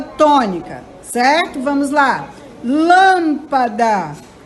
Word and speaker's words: lâmpada: tônica certo vamos lá lâmpada O Lan é a sílaba mais forte tênis o tem é